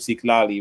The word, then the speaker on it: Xitlaly: So like I had this student named Siklali, right? And it was spelled Xitlaly. It's a it's a indigenous based name, a Mexican based name, right?